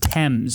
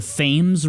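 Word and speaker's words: Thames: the temps River here by the way it's pronounced TS I hear people from other cities called the FES River because it's t h m s have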